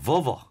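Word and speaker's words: Volvo: 버섯까지 못 가고 아 버버 예 버버버 약간 그런 식으로 여러분들 앞으로 저기 볼보 자동차 발음할 때 볼보 이거 안 됩니다 버버 바바 좋습니다 자 또 뭐 있습니다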